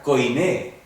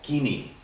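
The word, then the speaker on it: κοινή: Entonces escribí la palabra en griego y dijo, kinos. ¿A qué kinos? Era koiné. Pero él decía, bueno, debería haber sido kine o kini.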